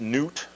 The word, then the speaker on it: Nut: What you have here is the sky goddess, and her name is spelled N-U-T, and I believe it's pronounced Newt.